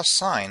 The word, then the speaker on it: sine: It is still sine. If you say you need to take the sin of 72 degrees, your teachers and or peers will simply cringe. It's sine. Always sine.